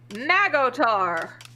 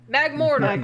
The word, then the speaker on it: Magmortar: Same with the next Pokemon, Magotar. Magmorin.